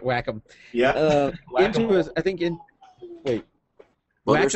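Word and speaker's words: Wacom: Yeah, Whack 'em. Yeah. There you go. That's how you say it. Whack 'em.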